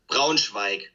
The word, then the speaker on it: Braunschweig: And now you live in, how do you pronounce that, Braunschweig? Braunschweig.